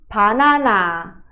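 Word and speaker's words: 바나나: Qual é a diferenç no portugês a gente pronuncia banana assim no coreano a gente vai abrir e vai ter todos todas as sílabas vai ter o som de a aberto e é b de bola mais seco então fica panana panana pi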